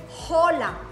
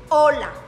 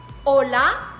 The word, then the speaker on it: hola: it's a Spanish but the edge is mute so you don't say holla you know hola every time you see an expense word with age remember she is mute you don't have to pronunciate so the informal way